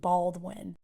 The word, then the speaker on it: Baldwin: her new last name Baldwin uh for now she confesses she has enough with them with learning to spell her last name I had to repeat it for my family three times bald win so when she's trying